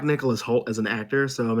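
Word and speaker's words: Nicholas Hoult: Is it Nicholas Holt? Yes, there you go. Good job. Yeah. Yeah, that's Renfield. I'm There's excited some for people I that. know in this. I like Nicholas Holt as an actor, so I'm excited for that.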